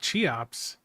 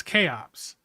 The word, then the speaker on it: Cheops: It's not Cheops, it's Chaops.